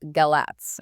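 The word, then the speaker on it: Galați: sounds intriguing which city is this this is galai It's pronounced galat and it's right on the border with Ukraine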